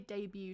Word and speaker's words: debut: Okay, so Ballet, Debut, Tarot, and Rapport all have a silent T at the end.